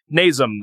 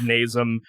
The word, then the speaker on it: Nasum: Nasum, I think is how it's pronounced.